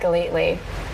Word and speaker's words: Gellatly: He said Gellatly. You mentioned that. He said Gellatly. He's one of my closer friends. No, he pronounces your name right.